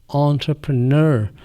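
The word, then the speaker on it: entrepreneur: यह ना तो ओ है ना तो आ है यह। यह आ और ओ के दरमियान का साउंड है। एंटरप्रेन्योर और एन को स्ट्रेस करना है।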